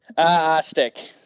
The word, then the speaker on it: Ostiak: How am I pronouncing it right, Ostiak? Ostiak. Ostiak. Sir. All good, though. Okay. I've heard many pronunciations. I wasn't sure if it was a hard or soft O, so.